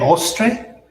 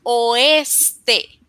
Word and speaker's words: oeste: El ostre. El oeste. Can you say it again, please? El oeste. Perfecto pronunciación.